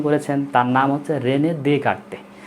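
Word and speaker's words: Descartes: তার নাম হচ্ছে রেনে দেকার্তে। তোমরা যদি ইংলিশে আলোচনা করো তাহলে হচ্ছে স্বাভাবিক উচ্চারণ হয় দেসকার্তেস, তো এটা হচ্ছে দেসকার্তেস না, এটার নাম হচ্ছে কি দেকার্তে।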